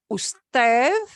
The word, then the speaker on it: usted: Usted, U-S-T-E-D, which is often abbreviated to U-D, but we pronounce it usted, the formal you, and ustedes, which is the plural you.